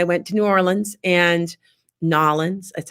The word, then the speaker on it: New Orleans: I'm trying to get, if you guys know that I travel, and I went to New Orleans and Nolans, that's how you say it.